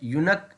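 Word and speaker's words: yoke: है टू बी ड यक इज नॉट ए कर्स ठीक है यहां पर यह वर्ड है युक इसमें यू की साउंड आ रही है तो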